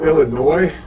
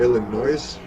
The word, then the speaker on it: Illinois: And by the way, it's pronounced Illinois, not Illinois, just FYI.